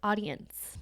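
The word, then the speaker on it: Audiense: Next tool is called audience, but it is spelled differently. So it's spelled A U D I E N S E. Audience.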